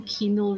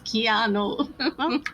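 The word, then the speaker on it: Keanu: as bad as like my mom with keano Reeves when she calls them Kino Reeves Kino she does she goes Kino Reeves and I'm just like it's keano Kino Means Cinema in um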